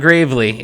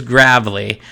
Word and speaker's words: Gravely: It's not Gravely, it is Gravely.